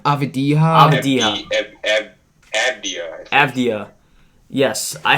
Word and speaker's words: Avdija: Avdija.